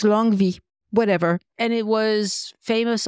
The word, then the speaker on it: Longwy: One of them is an interesting town in the northeast called it's written Longwy, but it's actually pronounced like a V.